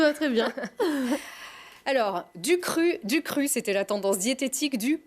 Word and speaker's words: Qru: Alors, vous avez retroussé vos manches, Estelle est vieux, et vous avez créé, comment ça se prononce? Cru, avec un Q.